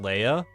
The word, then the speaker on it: Leia: Look, if you're willing to let me pronounce it Leia, I'm willing to acquiesce that Leah is also a valid pronunciation.